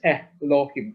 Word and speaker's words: Elohim: Can you please repeat how to pronounce that Elohim, that Aleph with the Hatap? Hataf Segol, is Elohim, Elohim. Very, very short, very short.